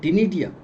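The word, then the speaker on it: ctenidia: Gills जैसी ही रचना होती है लेकिन विशेष नाम इसका है टिनिडिया। सी साइलेंट होता है।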